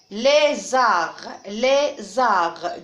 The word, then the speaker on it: lézard: Lézard, deux syllabes. Fusil, fusil, 2 syllabes. Et attention ici, on a T ne se prononce pas. C'est une lettre muette. D ne se prononce pas, c'est une lettre muette.